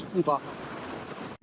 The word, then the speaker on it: Fouras: On peut venir à l'index depuis fura. Ça s'écrit fouras et ça se prononce foua.